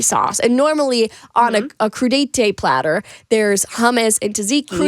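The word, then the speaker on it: crudités: We're like, give us the crudite award.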